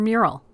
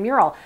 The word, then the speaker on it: Meural: name I found that Alexa had a hard time recognizing commands regarding mural and I wondered if it was because of the spelling because the devices name is spelled meu RAL I decided to change it so I changed the spelling inside the Alexa app of the name of the device to the more phonetic mural mu RAL and then